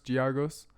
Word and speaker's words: Giagos: Giagos.